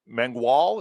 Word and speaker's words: Mangual: And then you've got Carlos Mangual.